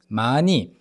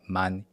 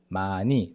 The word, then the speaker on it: 많이: 많이, 많이, here the H equivalent in the Korean language, which is the 히읗, is silent. So it's not 많이, it's 많이, 마 plus 니은 carrying over to the next syllable, 많이.